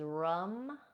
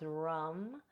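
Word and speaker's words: ram: The solar plexus is rum, R-A-M, but pronounced rum.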